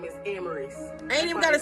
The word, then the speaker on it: Amaris: And if you ain't know how to say my name, is Amaris.